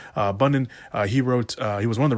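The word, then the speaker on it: Bunin: I almost mispronounced his name. Bunnen.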